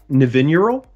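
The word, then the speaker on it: Nevinyrral: it i went well that just makes sense navineural yeah that's how you pronounce yeah well that's how i person nevin euro yeah well however i like the emphasis there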